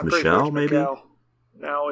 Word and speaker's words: Michel: heard i could have sworn they called them mikel and certain ones but i guess it's michelle oh maybe no no it's not michelle don't be stupid she was just like being